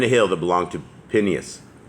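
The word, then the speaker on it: Phinehas: hill that belonged to pineas pineos is how that's actually pronounced his son which was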